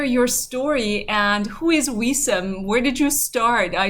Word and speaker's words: Wisam: I hope that I pronounced your name right, Wisam.